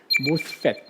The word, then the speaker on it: MOSFET: 모스펫이라고 읽으시면 됩니다. MOSFET, 모스펫.